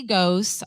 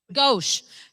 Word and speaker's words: Ghosh: He's being pinned tonight by Ghost, RN, charge nurse at work. I want to thank all of my family, friends. Did I say it wrong? Ghosh. Ghosh. I've been really trying hard tonight to get names correct.